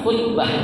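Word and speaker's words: خطبة: Tapi di sini jelaskan kalau ya tuh didomahkan, artinya khoknya itu didomahkan, khutbah artinya ya, jadi bacanya khutbah ya.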